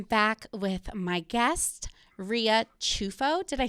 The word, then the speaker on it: Ciuffo: spelled ciu ffo so the correct pronunciation and in italy they would say chufo i feel like there's